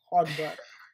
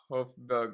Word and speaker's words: Højbjerg: Can't pronounce his name. Some Hodberg. Yeah. Hodberg. Oh yeah. Hofberg or whatever. Højbjerg.